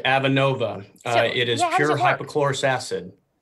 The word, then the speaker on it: Avenova: It's Avenova. Am I pronouncing that correctly? Yeah, that's correct. Avenova.